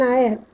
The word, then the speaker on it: heir: It is an owl, an hour, an honest man, an heir, where H is silent.